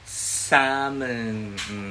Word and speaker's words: salmon: At ngayong araw na ito ay tuturuan ko kayo paano magluto ng fried butter salmon. Diba? Salmon ang pronunciation yan, ha?